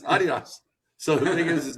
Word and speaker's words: Adidas: It's Adidas. That's how they That's how I found it they pronounce it Only America. It's only America where we pronounce it Adidas. So it's Adidas.